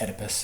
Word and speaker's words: Oedipus: Oedipus is how it's pronounced.